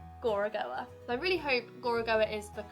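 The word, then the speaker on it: Gorogoa: beautiful puzzle game gora goa i really hope gorogowa is the correct pronunciation it's a beautifully hand-drawn puzzle game and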